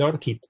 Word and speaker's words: ORCID: aboquemos es hacia el ORCID, ¿no? O ORCID en español, ORCID en inglés, ORCID en español, cualquiera de las dos formas de pronunciación es adecuada.